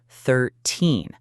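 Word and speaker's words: thirteen: When you say 13, the stress, the strong sound, is on the second part, 13.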